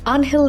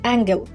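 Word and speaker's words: Ángel: নাম তার আনহেল দি মারিয়া, ইংরেজি উচ্চারণে অ্যাঙ্গেল।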